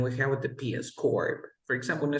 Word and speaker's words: corps: And then we have with the PS, corp.